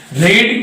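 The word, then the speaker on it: read: रीड की जो first form होती है RED रीड,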